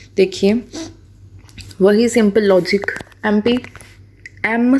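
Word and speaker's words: MP: एम करके लिखोगे, pronunciation तो ऐसी है ना, एम पी, ठीक है ना, एम पी, ठीक है। तो इस एम की प्रोनाउंसिएशन ए एम है। ए क्या है? एक वावल है, वावल होने के नाते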